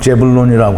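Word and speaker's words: זבולון: 스불론이라는 이름을 가진 게 히브리 발음으로는 제불론이라고 하는데요. 나와 함께 거하리라.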